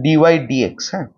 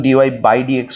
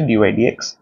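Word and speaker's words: dy/dx: অবকল সহক অবকল সহক ডিওাই ডি এক্স এর উচ্চারণ হচ্ছে ডিওাই ডি এক্স অনেকে এটার উচ্চারণ ডিওাই বাডি এক্স করে কিন্তু এর একচুয়াল প্রনান্সিয়েশন হচ্ছে ডিও ডি এক্স বা এফডশ এক্স দ্বারা নির্দেশিত হয় দ্বারা নির্দেশিত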